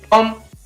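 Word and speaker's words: tomb: Next है, इसी प्रकार टॉम, यहाँ पर इसको पढ़ेंगे T-O-M, बी है वो साइलेंट रहेगा तो इसको पढ़ेंगे टॉम।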